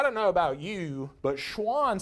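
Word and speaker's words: Schwann: know about you but Schwan sounds a lot like a different animal I've heard of before kind of sounds like the word Swan right Swan is an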